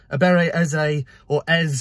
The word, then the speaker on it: Eberechi Eze: So for this signing to go through, Eberechi Eze, as it's meant to be pronounced, as I've seen already on his interview